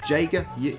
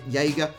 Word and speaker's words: Jaeger: uh Jaeger O'Meara possibly I think that's how you pronounce it Jager Jaeger looks like Jagermeister so actually it does